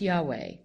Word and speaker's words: Yahweh: by the initials YH wh which today we pronounce Yahweh and the word Yahweh the linguists tell us